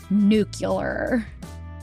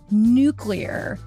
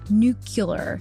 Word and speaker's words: nuclear: quote words mean things I pronounced this important word in the George bushan manner I was taught during my childhood again and again I said it I said nuclear but since then I've gone through self-designed Rehabilitation for my bush speak and now with no lack of struggle I can pronounce it correctly ready nuclear nuclear nuclear was